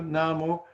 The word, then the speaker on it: namu: Na, mu, myo, ho, ren, ge, kyo. Usually, each of these syllables has its own beat, except for the first two, namu, which are done twice as fast.